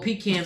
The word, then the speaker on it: pecan: They put little pecans in it. My bad. Pecans.